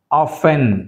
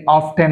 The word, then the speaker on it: often: now coming to ద T silent ఆఫెన్ అంతేగని ఆఫ్టెన్ అనకూడదు ఆఫెన్ ఫాసెన్ ఫాసెన్ ఇక్కడ థిసిల్